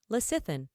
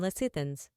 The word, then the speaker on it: lecithin: Lecithin, a noun meaning any of several waxy hygroscopic